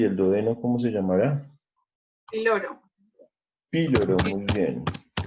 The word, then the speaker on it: píloro: Píloro. Píloro, muy bien. Píloro con tilde en la I, por eso lleva el acento en la I, se dice píloro.